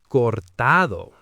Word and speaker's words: cortado: putting all this weird emphasis on the wrong syllable. The barista, this young guy with perfectly styled hair, just stares at me with this confused expression. Then he goes, "Um do you mean a cortado?" and pronounces it correctly, "Cortado."